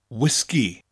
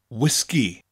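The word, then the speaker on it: wisgi: the first is whiskey the only difference is we emphasize both syllables and bring out that gas sound whiskey whiskey next we have pop in the UK you call it soda in the u.s.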